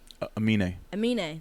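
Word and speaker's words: Aminé: wait how do you say his name again amine there you go his name uh he was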